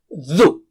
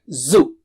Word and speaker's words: ذُ: And let's take dhu. It's not zu. Dhu. Touch the tip of the tongue. Touch it with the top teeth, edge of the top teeth.